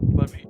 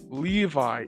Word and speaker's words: Levi: Is it Is it Levy or Levi? Am I Am I pronouncing it wrong? I feel like I am. But yes. Okay. The hands blowing you up with my mind. No. Levi. I had a feeling it was Levi, but my brain was like, "No, it's Levy."